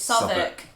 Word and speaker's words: Southwark: It's spelt Southwark. I don't know why it's a uk instead of walk. But it's Southwark.